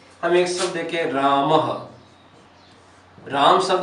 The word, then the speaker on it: रामः: इसके पीछे विसर्ग है, तो उसका उच्चारण करेंगे तो हम क्या बोलेंगे इसको? रामः। ये इसका उच्चारण स्थान हो गया ह, यानी कि रामः, अध ह के समान होता है रामः।